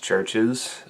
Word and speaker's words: Chvrches: song with chris brown and tyke it's actually pronounced churches the so-called v that you are seeing in